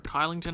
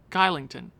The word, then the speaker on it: Kylington: So, I think the best option right now is a cheap Oliver Kylington. Shillington. I think that's how they say it.